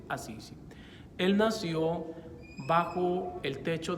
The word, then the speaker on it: Assisi: Italia llamado precisamente Assisi, se dice en italiano. En español nosotros decimos Asís, pero en italiano se dice Assisi.